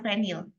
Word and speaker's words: fenil: pandangnya saja gitu ya kalau gugus venil itu adalah c6h5 atau benzena yang kehilangan 1 atom H itu kita bacanya fenil Ya tapi kalau teman-teman